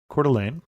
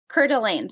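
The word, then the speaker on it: Coeur d'Alene: of the world here so you're going to cordelan cordelan so why you would want to start there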